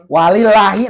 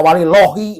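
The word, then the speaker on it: وَلِلَّهِ: Walillahi, enggak walilohi, walillahi. Jadi kalau ada lafaz Allah sebelum lafaz Allahnya baris patah, maka namanya tarkik tipis.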